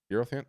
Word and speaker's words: Aerophant: Joseph the Aerophant. Aerophant? Did I say it right? Yeah, Aerophant. Aerophant. Like heirloom, Air- heirloom. Yeah. Like a family heirloom.